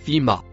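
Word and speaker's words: في: Le premier, en couleur rouge, se prononce fi.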